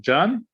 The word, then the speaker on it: Jan: which was by, please tell me how to pronounce it, Jan? Jan, yes, very good.